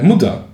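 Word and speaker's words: mudha: number two is called muda which is a mind which is affected it kind of rhymes with mood or sounds a bit like mood a mind which is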